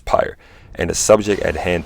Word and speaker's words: Pyre: starting with bastion transistor pyro or pyre i believe that's how you say it pyre i'm pretty sure it's pyre and the subject at